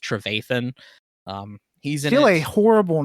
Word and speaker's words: Trevathan: But it's pronounced Trevathan.